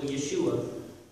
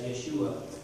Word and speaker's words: Yeshua: you're stumbling over the pronunciation the way we pronounce it, which is plain and simple Yeshua, go read that document, and there's 30 verses of scriptural proof as to why it's pronounced simply as Yeshua, as well as the fact that he is